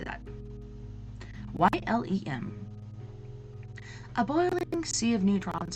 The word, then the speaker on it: Ylem: Ylem.